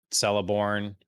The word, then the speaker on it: Celeborn: of the characters he know less about um celeborn that's how you say his name um i